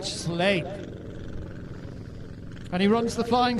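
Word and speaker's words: Sleap: with another pronunciation problem at sleep eritron although it's actually the in Shropshire they call it slay and he runs the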